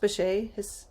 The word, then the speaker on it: Bechet: Thinking about the roots of jazz, I was just thinking about Sidney, is it pronounced Bechet?